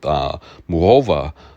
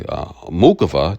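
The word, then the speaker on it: Muchová: But then again, if we go back to the match with Muhova, or should I say Mukova, depending on where you're from, right? A lot of, the European announcers, they pronounce it as Muhova.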